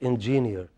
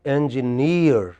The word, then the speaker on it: engineer: You guys are going to be X and you don't even know how to pronounce that X. It is not engineer. It is, listen to me carefully, it is engineer.